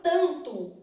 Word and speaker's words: tanto: tudo aqui para gente na palavra tanto o n não é pronunciado então tem isso aqui ó tanto então eu tenho